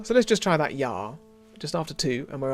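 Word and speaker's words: ja: yeah it's not a it's not a hard consonant a j in german but you can give it quite a lot of kick just once again one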